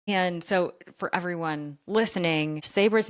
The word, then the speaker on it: Sabre: And so for everyone listening, Sabra's name is spelled S A B R E, but it's pronounced with an A at the end obviously with Sabra.